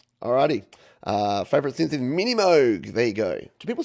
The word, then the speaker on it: Moog: Favorite synth is Mini Moog.